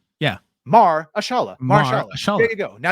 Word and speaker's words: Mahershala: It's spelled Mar, like Bill Maher. Right. Yeah. Mahershala.